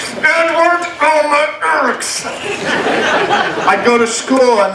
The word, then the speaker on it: Edward Erekson: In fact, to this day, I still think my real name is pronounced with your teeth gritted. Edward Erekson. I'd go to school and they'd read my name and I said, no, it's pronounced like this. Edward Erekson.